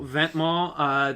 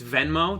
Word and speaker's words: Venmo: was also Ventmall. They did a collaboration with the shipping brand DHL. Did you say Venmo? Yes, it's Venmo.